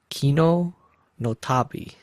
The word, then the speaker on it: Kino no Tabi: AKA, in Japan, they pronounce it as Kino no Tabi.